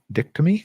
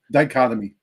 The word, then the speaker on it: dichotomy: is witnessing notable di dicty is that how you pronounce that dichotomy dichotomy okay uh learn something new